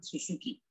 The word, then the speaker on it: Suzuki: Porque hay una marca de autos que es Suzuki. Y en las publicidades a veces en español tienden a poner la pronunciación como alguien hispanohablante desconociendo el sonido vibrante de la segunda su. Entonces la pronuncia Suzuki. Es incorrecto. El apellido es Suzuki.